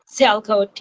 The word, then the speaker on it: Sialkot: Roughly 50 to 70% of soccer balls are made in the city of Salcott. Is that how you say it? Sialkot, yeah.